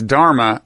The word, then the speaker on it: dharma: could have affirmed so in this context you're pronouncing as dharma the word that you earlier pronounced as dhamma